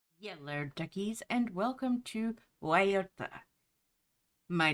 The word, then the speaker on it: Guayota: And yes, I know, normally we would pronounce it in English probably something along Guayota, but in Spanish, it is Guayota.